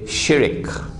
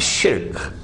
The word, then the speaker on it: شرك: The Malays say shirik. Please change your pronunciation. It's shirk.